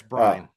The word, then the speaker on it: Byrne: it's Byrne. Or Byrne.